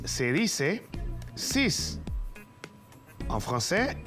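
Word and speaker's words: six: 6 en francés te recuerdas 6 se dice sis en francés y se escribe s y x ahora vamos a pasar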